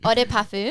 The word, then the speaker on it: Eau de Parfum: Eau de Perfume.